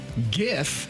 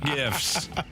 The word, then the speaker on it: GIF: one's from the 636 GIF has a hard G when in doubt lean